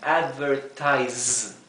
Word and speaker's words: advertise: Mientras que la S simple, generalmente, aunque no siempre, se pronuncia z, como un zumbido, z, como advertise, ¿verdad? No es z, es z. Advertise.